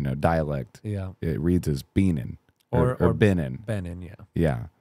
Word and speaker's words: Benan: The name is Benan. Right. Yeah. And I call you Benan. Benan. That's right.